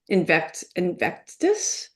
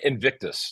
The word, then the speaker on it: Invictus: what's a typical day like for you at Invectus? Am I Oh, it's pronouncing any of that Invictus. right? No, Invictus.